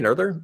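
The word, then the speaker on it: Noether: example is uh Emmy nerder is uh she's German you have to pronounce the o with the new lot right she's uh was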